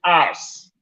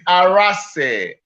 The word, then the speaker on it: Arase: I take, for instance, Mr. Bond to call me Arse. Hey. Arse. Navo will say Arase. Like a lot. Some will say Okay, Arase. why don't you tell us? You pronounce it today. It's Arase. Arase.